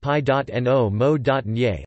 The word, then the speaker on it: Pinot Meunier: Pinot Meunier, pronounced pi.no-mo.nier, also known as Meunier